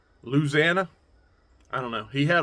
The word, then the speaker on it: Louisiana: supposed to say it I know it ain't Louisiana I know that's that's dead wrong it's like Louisana South louisanna I don't know you can